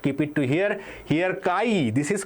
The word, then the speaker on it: chi: So this is called kai. Okay. C hi but it is pronounced as kai.